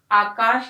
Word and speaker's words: आकाश: आकाश है यानी कि श शक्कर वाला है, और उसे हम श, उच्चारण शाही होगा।